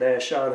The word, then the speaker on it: AZ Shot: You can more than welcome to follow us on Facebook at Ash Shot Hunting. Instagram, it's Ash Shot Hunting. It's spelled AZSHOT and then hunting.